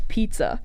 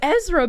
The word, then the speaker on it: Ezra: page of Israa and he pronounced it as pizza like he came up to me and I was like look it's the book of Pizza and I was like that's Ezra buddy and he's like no